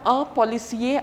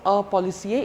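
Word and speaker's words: policier: end then we have our policy a are not to be pronounced our policy a even if a female is there it will be our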